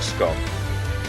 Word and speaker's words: scone: Pop the scone. That's how you say it. Scone. You don't say sc. It's gone. Cuz you eat a scone. And when it's gone, it's like nice.